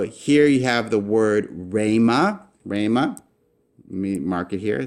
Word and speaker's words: rhema: So you can see this in English a little bit, where the H is silent. You don't really say it when we say rhetoric, but rhema is a Greek word for word, saying or expression.